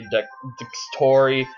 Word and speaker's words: Dxtory: I'm just gonna say Dextory. It's spelled Dxtory.